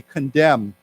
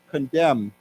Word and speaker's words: condemn: say together condemn now you know that there's an n there but we don't have to we don't pronounce that so we just say condemn condemn den Denounce denounce right